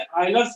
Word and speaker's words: Euler: तो लिखें आयलर्स method, जिसको आप बोलते हो यूलर। तो यूलर कहो या आयलर्स कहो, उसका उच्चारण वैसे आयलर्स है।